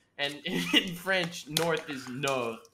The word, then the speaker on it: nord: in french north is no n-o-r-d and the d is silent because french is the worst language on the planet and all the consonants